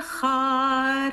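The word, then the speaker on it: אחד: the strong beat, but I'm hearing a lot of echad. Remember, it's V'hu echad, echad, right?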